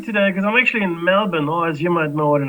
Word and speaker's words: Melbourne: god an open yeah Melbourne that's what we say Brisbane Melbourne that's how we pronounce them here if if you're anyone else you get as a male born and you know you're going to stand out you don't to do